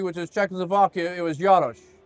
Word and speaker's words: Jaros: I always say Yaros, but. Close. Yeah. You know, it could be like the next county over. They could say it like that, you know, but it's it's the the hard J.